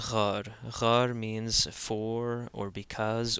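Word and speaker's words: ⲅⲁⲣ: So here we have an example of the gamma actually being pronounced as a r sound. So in this case, this is ghar.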